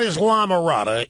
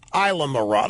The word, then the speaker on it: Islamorada: It is not Islamorada, it's Islamorada, is that right? The S is silent in there.